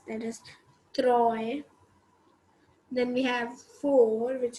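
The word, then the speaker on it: trois: as t r o i s that is troy then we have four which is written as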